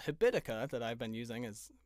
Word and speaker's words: Habitica: It's a habit making app that's spelled like the word habit and then ICA, Habitica.